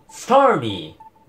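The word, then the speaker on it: Starmie: 発音は …… スターミーです。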